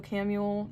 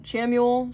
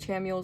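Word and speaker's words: Chamuel: recommend praying to Archangel Camu. Chamu, sorry. I think Chamu is the correct way to say it, but I feel like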